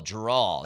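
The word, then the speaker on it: Jerral: Jerry Jones's real name is Geral or something like that. And everybody just calls him Jerry. Oh, J E R R A L. Geral.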